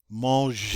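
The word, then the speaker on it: manger: next one maljee maujer that g is a soft g because it's followed by an e so we pronounce it like j instead of g monge and i'm sure you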